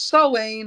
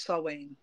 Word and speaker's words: Samhain: So it's Samhain, or some people it's spelled Samhain. But it's Samhain. And we said Samhain. Samhain. Yeah. Samhain. That's another very common way of saying it.